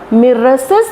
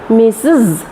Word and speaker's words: Mrs: sound दो बाय तहना मिसेस दो बांग R द साइलेंट तहना S रना साउंड तहना मिस एंड एंडो कना Z sound मिसेस okay next होइना miss